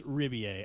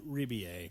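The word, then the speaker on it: Rebillet: How do you pronounce his last Riboulet. name? Apparently Riboulet. it's Ribier. I finally heard Ribier. him Okay. say the name himself, Ribier. and I believe he said Ribier.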